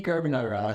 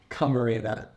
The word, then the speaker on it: Camarena: Carbonara. Carbonara. Say it one time. Camarena. Yeah, just spell it out.